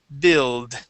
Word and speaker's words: build: U or E Yeah so the U the U is does not exist or is silent here and the L is silent we're going to focus on a short I sound so instead of saying